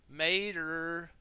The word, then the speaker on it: Mater: agent who is named Mr. Mater. Rhymes with tow mater.